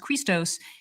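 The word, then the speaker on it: Χριστός: the first letter of the word Christ uh pronounced Christos it means the anointed one and the cosmic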